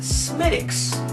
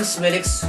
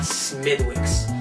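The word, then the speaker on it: Smithwick's: So make sure you pronounce it right and say Smidicks, not Smidwicks, because you'll look like a fool.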